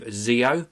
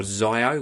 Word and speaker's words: ZiiO: This is the Creative ZiiO, or ZiiO, whichever way you want to pronounce it.